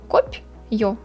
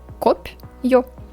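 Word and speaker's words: копьё: list of letters, and we pronounce it like kop, yo, two parts, kop, yo. We can imagine we don't have here soft sign, it will be ko, pyo, and right pronunciation will be kop, yo, like that.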